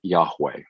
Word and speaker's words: Yahweh: The holy name is characterized by the 4 Hebrew letters YHWH, which in some circles people pronounce it Yahweh.